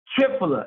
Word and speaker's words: triphala: one this is called triphala Turner I'll spell that for those who have a hard time understanding okay he r i p h a l a tripler it's like try like tricycle tripler Turner is fruit